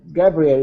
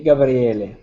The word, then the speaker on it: Gabriele: of your name uh gabrielle it's okay gabrielle yes i come from italy and in italy we say gabriele but that is okay gabriele is the italian pronunciation of my name ah gabriele exactly okay